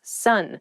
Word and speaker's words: son: male child is someone's son sun s-o-n is pronounced exactly the same as s-u-n sun what are you talking